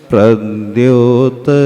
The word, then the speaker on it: प्रद्योत: अब उसके बाद प्रद्योत लिखा है, संयुक्त अक्षर है, तो एक्स्ट्रा थोड़ा सा प का उच्चारण आएगा। मुकुट प्रद्योत रत्न प्रभा।